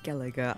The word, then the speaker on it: Skellige: Okay, so it's pronounced Skellige. I'm so sorry that I had mispronounced it before. I may mispronounce it again.